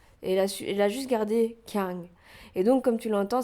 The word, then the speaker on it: Kyung: Elle a dit, elle la prononce Kyun.